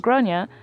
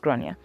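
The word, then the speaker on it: Gráinne: Generally pronounced as Groia or thereabouts. Okay, so it is GRA, but sometimes it's pronounced Groia.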